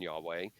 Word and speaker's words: Yahweh: No, it's pronounced Yahweh. It's Hebrew.